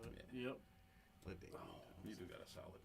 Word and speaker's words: LaDainian: LaDanian. Yeah. Is that how you pronounce it? Yep. LaDamian.